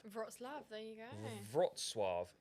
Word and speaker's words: Wrocław: Pronounced Wrocław. Wrocław, there you go. Wrocław. Not Wrocław. Yeah, No, this is it here. Pronounced Wrocław. Wrocław, yeah. Yeah, Wrocław. Yeah, so it's Wrocław is the Polish pronunciation.